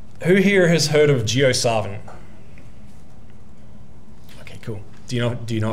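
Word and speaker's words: JioSaavn: But so who here has heard of Gio Savin? Okay, cool. Do you know if I pronounced it correctly?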